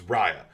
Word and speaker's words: Raya: playing uh raya about i've been saying it wrong it's raya so raya and aquafina who